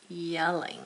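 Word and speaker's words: Jelling: pronounced yelling. I'm going to put this in parentheses. It's pronounced yelling.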